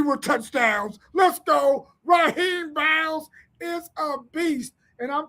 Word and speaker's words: Biles: Man, his mama said the S is silent. His name is Raheem Biles.